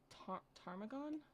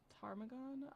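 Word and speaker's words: ptarmigan: it's called a uh tarmagon tarmagon i'm not sure how to pronounce it but it's like with a p at the start of the name but they look like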